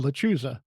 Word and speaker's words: lechuza: How do Yeah, you pronounce the that? lechuza. Thank you. Lechuza.